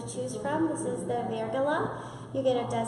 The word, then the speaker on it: Virgola: Virgola. Virgola.